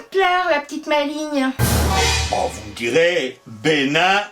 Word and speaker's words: maligne: Dictionnaire des rimes françaises fait rimer bénigne maligne avec signe c'est bien ce que je disais ouais mais un peu plus loin il nous explique que l'on peut ôter le g de la prononciation et il fait R maline avec angine il n'y a pas